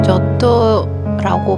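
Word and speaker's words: Giotto: 조토라고 말할 때 발음을 잘해야 해요. 왜냐하면 한국 사람에게 욕같이 들릴 수 있거든요.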